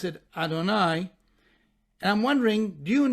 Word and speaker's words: Adonai: the Tetragrammaton, as Yud-Heh Vav-Heh, or as we pronounce it, Adonai.